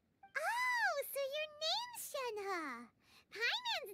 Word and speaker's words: Shenhe: different because like i the way i pronounce it is shanhua because that's that's how they pronounce it in like some voice lines but i swear they pronounce it differently it's like sometimes it's shangha sometimes it's shen hey it's just it just changes every time and it's really confusing